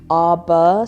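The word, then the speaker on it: Arbor: with the guys at arur Solutions and I say it like that because I know it sounds like AR which is obviously my brand but arur is a r b o r it came out really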